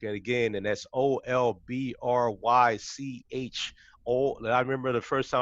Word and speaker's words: Olbrych: And again, and that's Olbrych. I remember the first time I met you, Judy, I was having a challenge pronouncing your name, and you told me it's like old brick.